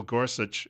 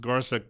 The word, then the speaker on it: Gorsuch: I wanted to see President Trump's announcement with Neil Gorsuch, and I've also heard it pronounced Gorsuch by some politicians. But I'll go with Gorsuch for now because that's the pronunciation I've heard more often.